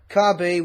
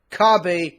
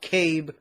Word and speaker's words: Kabe: My reaction to R4P17 and Kabe, which is, yes, that's the actual pronunciation of her name. She's called Kabe, not Cabe.